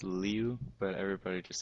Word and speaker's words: Liu: don't know how to say it yeah it's pronounced liu but everybody just says lou and then he's like you know what okay